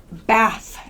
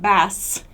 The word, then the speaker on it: bath: th sound think so think bath again bath not baths where my teeth are together but bath so focus on that